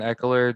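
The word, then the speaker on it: Ekeler: So Tony Gonzalez and Austin Eckler just spoke on stage with a couple fans.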